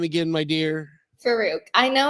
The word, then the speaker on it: Faruque: and your last name again my dear Farooq I know it's a tricky one to pronounce I will I and see I have